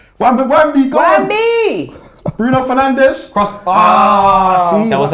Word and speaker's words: Fernandes: The only thing that will make me feel bad about Bruno right now is if you say his name in Portuguese. Fernandes. Bruno Fernandes.